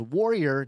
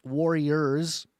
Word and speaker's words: Warrior: So, I made a bunch of these memes to hopefully imprint on your mind that it is warrior, not warriors, plural of Yah.